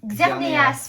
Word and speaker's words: Xerneas: Xerneas, pardon. Ouais, il y a le E. Il y a Ouais. le E à prononcer.